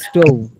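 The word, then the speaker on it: stove: পরে হচ্ছে স্টোভ, আ স্টোভ, শেষে ভি উচ্চারণ হবে, ভি ভ উচ্চারণ হবে, আ স্টোভ একটি চুল, আ স্টোভ একটি চুল।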